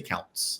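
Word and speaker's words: Daniel Kountz: Brown and I'm not going to say his name correctly, but Daniel Counts. We'll say Counts. I think it's like Couns. Yeah, it's like uh, what was the word they kept mispronounced?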